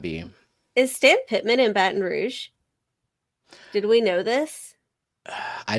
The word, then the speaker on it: Baton Rouge: say that out loud pretty sure it's pronounced Baton Rouge baton rou no only if you are not local it is Louisiana it is Baton Rouge welcome in elfish tanks